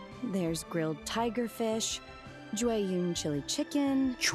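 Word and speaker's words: Jueyun: Juun chili chicken. Juun. That's how you pronounce jun. I was saying jun.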